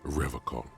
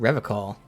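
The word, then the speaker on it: Revachol: river call he pronounces revocal with a hard k unlike other people i noticed that serious question time this man is no innocent no one is he said rev call i like to pronounce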